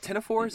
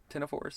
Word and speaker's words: ctenophores: Is it ctenophores? Is that how you say it? Ctenophores? Ctenophores. Even though there's a big C at the beginning.